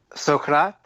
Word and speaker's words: Socrate: there, any Zen folks especially listening right now, Socrate.